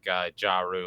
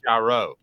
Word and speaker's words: Jarreu: Now Joe is saying that your name does look like Jarreu, like I was saying it when I first met you, but it's Jarreu. Yeah. Pronounce it one last time. Jarreu. Jarreu. All right. Calhoun, you practice. Jarreu. Basically, gyro, but a really, really, really, really thick Southern accent person said it.